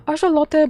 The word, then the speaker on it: axolotl: Yeah, it's weird because Mexicans call it uh aote, but Americans pronounce it closer to a god name.